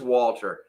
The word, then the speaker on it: Walther: The H is silent, so it is Walter.